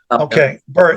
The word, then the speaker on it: Byrd: Bird. It's spelled BYRD.